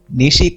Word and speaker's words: Nishi: Nishi comes from the pronunciation of a Japanese word, Nishi, meaning day, sun or sunshine. Sorry for the mispronunciation.